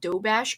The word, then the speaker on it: Doberge: Orleans type of cake called dough bash cake, but it's spelled like doberge.